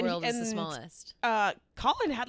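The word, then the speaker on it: Khalen: were saying calling him I thought it was kin because it's k h a l e n but it's Colin pronounced he I wonder cam was there cam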